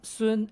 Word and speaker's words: Sng: sun so it's soon soon and i think it's more it sounds it's supposed to sound a bit more flat like soon and the how goes